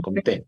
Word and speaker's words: Comte: Al final, pues creo que los franceses siempre el acento en la última, ¿no? Comté.